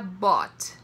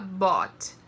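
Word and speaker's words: bought: no passado ele vira bote então preste atenção que a pronúncia é diferente né da escrita então ficar bote É temos dois exemplos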